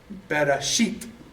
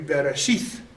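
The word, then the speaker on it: בראשית: if that T, or if the taf has a dagesh, it's pronounced as a hard T. T. Bereshit. Okay? But if it doesn't have the dagesh, in some of the translations, it's TH. So it would be bereshith.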